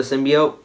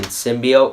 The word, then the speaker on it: symbiote: to mention the girl keeps pronouncing symbiote wrong it's not symbiosis in be oat I hate when people mispronounce that it makes me angry it's symbiote not symbiote okay Jesus Christ alright now